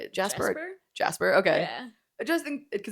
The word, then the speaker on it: Jaspar: Jasper. Okay. Yeah. I just think because it's spelled Jaspar.